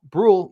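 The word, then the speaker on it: Bruihl: Brule see we we got all the difficult pronounced names here.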